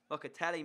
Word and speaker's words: Locatelli: Locatelli, mate.